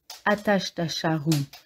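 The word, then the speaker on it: Ajatashatru: confondu en entrant dans le taxi ce jour-là attache ta charrue prononcé Hachette un chat roux avec tout de suite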